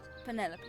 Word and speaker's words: Penelope: can be bothered with all four syllables of it Penelope sounds a little ostentatious